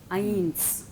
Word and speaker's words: eins: But if it is at the end of a word, then it is soft. Eins.